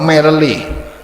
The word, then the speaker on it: merely: This prohibition does not include vessels, merely gilt or silver. Not merely, merely. Merely. The R is silent.